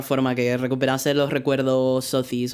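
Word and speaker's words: Sothis: Por cierto, lo pronuncia Sotis, pero yo no suelo hacer mucho caso a cómo pronuncian los japoneses los nombres, porque están utilizando nombres extranjeros y obviamente los japoneses. Edelgardo, pues no, es Edelgard, ¿no? Pero en el caso de Sotis, me parece que TH podría pronunciarse mejor como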